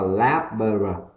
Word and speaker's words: laboratory: Thứ hai là cái âm ở nhẹ, đúng nhỉ? Âm số A là âm ở nhẹ. Thứ ba cũng là cái âm số A, đúng nhỉ? Và cái cuối là thor là âm or, và âm cuối cùng là long y, thì chúng ta đọc là laboratory, đúng nhỉ?